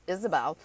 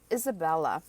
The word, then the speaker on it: Isabel: correctly i have now my name's isabel some people call me isabel but a lot of people call me as isabella i think it's something